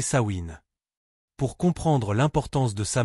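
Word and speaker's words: Samhain: Elle portait un nom, sa main prononcé sain.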